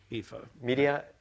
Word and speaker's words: Ephah: From Midian and Ephah, is that how you pronounce it? Yeah, Ephah.